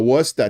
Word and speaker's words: Worcester: Oh, Worcester.